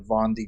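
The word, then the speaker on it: Vendée: That definitely makes the Vendy Globe. The Well, it's pronounced Von D.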